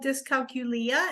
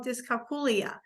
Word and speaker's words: dyscalculia: Well, there actually are 2 pronunciations for it. Some people call it dyscalculia and some people call it dyscalculia.